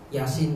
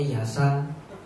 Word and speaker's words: Yasin: Yasin bacanya yasa.